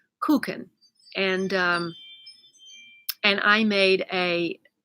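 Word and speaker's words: Kuchen: listened on Google and the way the English pronounce this word is touching but of course Germans pronounce it cuckoo or something like that but it's cake koukin and and I made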